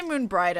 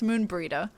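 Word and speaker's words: Moenbryda: moon preter stop it I always say Moon brighter it's Moon burrito I pronounce everyone's names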